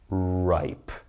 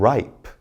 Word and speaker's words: ripe: there's rip and then there's ripe long vowel I with the silent E so listen to me as I say these we've got plane time cape hope tube bite cute and ripe never did I say the e because it's silent it's just there to